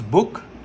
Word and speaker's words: book: This is U, because when we pronounce book, there are 2 O's. We don't pronounce it in that particular way.